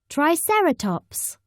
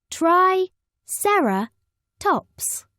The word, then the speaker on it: Triceratops: Triceratops means three-horned face how do you say it Triceratops say try Sarah tops in the swamp a